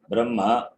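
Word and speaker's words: ब्रह्म: According to the Taittiriya Pratishakya, Brahma, taking that word as an example, Makara to be pronounced first and then only Akara. Brahma, it has to be. Okay. Don't pronounce the word as it is in the order of writing. Hakara followed by Makara, it is there in the writing. So, but you should not pronounce that like that. Makara first and then Hakara.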